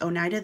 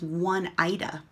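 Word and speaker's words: Oneida: this one was interesting they didn't know that Onida was pronounced Onida they were pronouncing it as one Ida no it's Onida yeah Onida um let's see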